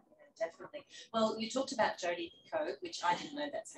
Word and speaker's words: Picoult: Well, you talked about Jodi Picoult, which I didn't know that's how you pronounce it.